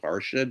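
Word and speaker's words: Portia: The Elizabethan and Sphartic pronunciation of Porsche would have been closely akin to the Hebrew word para meaning a section of the law. Is it a coincidence that Parsha disguises herself as a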